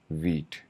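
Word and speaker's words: Vite: चले जाते हैं और बाय द वे इट is pronounced as this. ठीक है? तो लाइक वीट।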